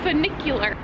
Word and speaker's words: funicular: And so she just looked up what the actual tram is, and it's a funicular. Not a vernacular, it's a funicular.